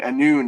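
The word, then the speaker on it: Annwn: Uh but uh there's there's Tuara anon which means uh the land of silence for example and anon is spelled very Welsh. It's got no vowels at all.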